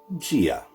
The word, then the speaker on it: Dia: to this for now letter d in gia gia so because the letter d is followed by an i right here the letter i is slender so that means there's a d gets its slender tone it will be pronounced slender slender d is pronounced like j in the ulster dialect it's pretty much like the english j sound as in john so this is pronounced gia gia yes now this is